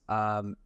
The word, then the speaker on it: Eskilstuna: But obviously your career from then, you've been overseas, you played at quite a few different clubs, Colorado Pride, the Jets, Eskilstuna, is that pronounced Nice.